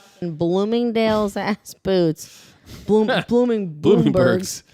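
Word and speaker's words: Bloomingdale's: dals I know well he keeps calling blooming tins and he doesn't know what BL blooming Dales is he keeps mispronouncing it anyway so so then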